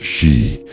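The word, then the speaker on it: 四: In Japan, the number four is pronounced she, the same as the word for death.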